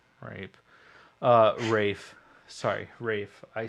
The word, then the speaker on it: Ralph: There's a lot of emotions, but I also learned how to correctly pronounce Ralph Fiennes, who was Voldemort, into Rafe Yeah, Fiennes.